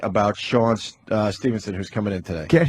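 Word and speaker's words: Sean Stephenson: And we got Sean Stevenson?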